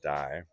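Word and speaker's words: Digh: Again, if I'm pronouncing his name wrong, give me a phonetic spelling in the comments. Spelled D-I-G-H, Davin Dye.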